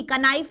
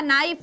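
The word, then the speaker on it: knife: नाइफ, सबसे common example, के एन आई एफ ई, कनाइफ नहीं होता, नाइफ होता है, के होता है साइलेंट, ठीक है।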